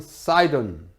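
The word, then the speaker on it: Sidon: 남쪽에 있는 것이 두로, 영어로 Tyre, T-Y-R-E, Tyre라고 발음합니다. 두로. 그 다음에 시돈, 영어로 하면 사이돈.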